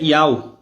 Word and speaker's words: YAUH: Então a pronúncia do nome do Eterno é Iau.